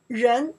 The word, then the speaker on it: 人: Okay, person, people, Chinese pronounced 人. Oh, that's so easy, right? So easy, right? Okay, let's figure out here. 人 in Chinese, you translate people, person, both they work.